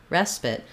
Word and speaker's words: respite: in the word spite because this second syllable is not stressed we just have the if vowel here pit respite respite so it's a reduced vowel it's going to be short and it's not going to have that eye diphthong respite this is the